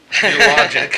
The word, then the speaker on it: Xiologix: the Washington State Master Contract and approved vendor Geologic for $68,045. And for those of you at home, it's spelled Xiologix.